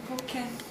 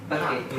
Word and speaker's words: packet: A pocket of pasta. A, Pocket. not a pocket, but a Pocket. Packet. Exactly. Packet.